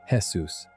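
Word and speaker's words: Jesús: The actual answer is one of the more beautiful little jokes the show ever planted because Seuss is short for Jesus, pronounced the Spanish way as Jesus and his full name is given in a credit sequence as Jesus Alzarano Ramirez.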